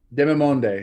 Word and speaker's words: Demimonde: With Demimonde. How the hell do you say this? That's a tough one. Demimonde? Demimonde, yeah.